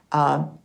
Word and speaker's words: Karuna: This is pronounced the same, but spelled differently. It's spelled with a K, Karuna, with a line over it.